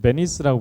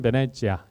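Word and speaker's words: Venezia: 영국식으로는, 즉 영어에는 베니스라고 부르고요. 이탈리아 사람들은 베네치아 이렇게 부르죠. 그래서 사실은 베네치아 이렇게 불러주는 게 맞는 말입니다. 그래서 앞으로는 가급적이면 베니스보다는 베네치아.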